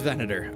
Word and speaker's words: Venator: Like not to say that like that's where you're going to where I should put it, but number one pronunciation venador. Oh, it is venador. Okay. Venador like venadurburger.